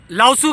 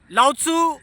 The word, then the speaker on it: Lao Tzu: आज हम लाउसू के बारे में बात करेंगे। लाउत्सू कई लोग इसको लाउ से भी प्रोनाउंस करते हैं।